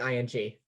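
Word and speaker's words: Kim Ng: happened on friday uh kim ing is that her name kim yes it's pronounced like ing okay kim ing uh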